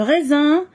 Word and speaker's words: raisin: Nana S se prononce Z. L'homme le bakrim qui entre S. Le raisin, le soleil, triste.